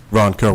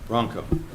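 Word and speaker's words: Wronko: Ronco with silent W. Ronco.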